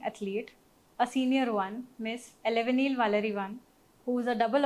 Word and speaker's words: Elavenil: So you pronounce it as Elavenil. Elavenil. Elavenil.